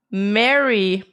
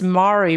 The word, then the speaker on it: Mari: Oh, this is a clip from Mary. Mary_en. Oh, sorry. I'm pronouncing it wrong. You guys are going to flame me. It's Mari. Mari.